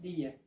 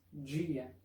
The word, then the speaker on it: dia: En algunas regiones que hablan portugués, la pronunciación es día, como en español. Pero en otras regiones, como acá donde vivo, la pronunciación correcta es dia.